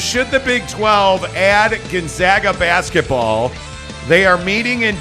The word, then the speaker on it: Gonzaga: Gonzaga. One of the most controversy on the show. Right. Hey, Monty, it's pronounced Gonzaga.